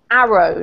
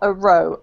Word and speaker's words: arrow: This is arrow, not a row. Arrow. Arrow. Very good.